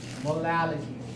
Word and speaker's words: molality: One is called molarity, the other is called molality.